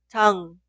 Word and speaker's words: 장: Esta sílaba suena 장, 장, 장. No se pronuncia 잔. En este caso utilizaría ni은, que suena como N. Nunca suena 장그.